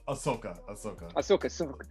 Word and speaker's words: Ahsoka: I myself, Ashka is cool. I love her. Ahsoka.